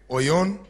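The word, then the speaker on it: αἰών: Word number three is A-I-O-N, A-I-O-N, Oyon.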